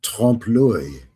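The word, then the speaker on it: trompe-l'œil: And you know, you just sound all fancy and sophisticated when you pronounce it trompe l'oeil.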